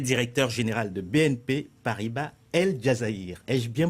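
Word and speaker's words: El Djazaïr: Pascal Fèvre, vous êtes directeur général de BNP Paribas El Jazaïr. Ai-je bien prononcé ?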